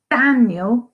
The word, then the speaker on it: Daniel: In Daniel, it's the Dan.